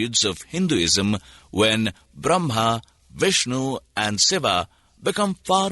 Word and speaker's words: Brahma: the impersonal absolute Spirit Brahman Brahma with a long a at the end is the masculine of